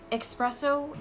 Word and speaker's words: espresso: Espresso is not a thing. It's espresso with an S, not an X, as in xylophone. No X. It's just an S. Espresso.